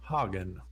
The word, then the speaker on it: Hagen: I'm playing a bard named Hagen, like Haagen-Dazs. Nice, Hagen.